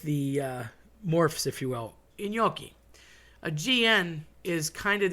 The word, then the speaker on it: gnocchi: Okay, I've had people say gnocchis. It makes me want to throw up. They're not gnocchis. They're not gnocchis. It's gnocchi.